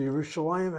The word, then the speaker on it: Yerushalayim: So, Yerushalayim has one syllable, two, three, four syllables. The accent is not the last syllable, second to last syllable.